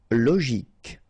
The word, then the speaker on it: logique: Logique, remember, Q-U-E at the end, K, logique.